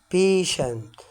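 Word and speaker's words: patient: برض هنا هتنطق شين التي اي اي هنا هتنطق شن زي كلمه بيشنت بيشن اللي هي معناها تيجي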